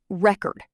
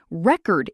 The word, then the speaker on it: record: Another one, record. Record is the noun. Record is the verb.